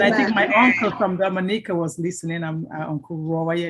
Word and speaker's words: Dominica: And by the way, they've been calling it Dominic. It's Dominica. Dominica. Yes, Dominica. No, it's not Dominica. Oh, Dominica. It's Dominica. So get that pronunciation very well.